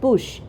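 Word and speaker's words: bouche: ओ यू सी एच ई बट इट is pronounced as बुश which means mouth then the other words word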